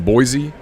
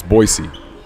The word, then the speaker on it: Boise: still that we've mispronounced I've been saying Boise and everybody says it's Boise Boise yeah Ryan said it